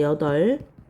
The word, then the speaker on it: 여덟: 두 번째 여덟. 여이라고 발음하는 사람 없죠? 숫자 여덟. 자, 여덟로 발음해요.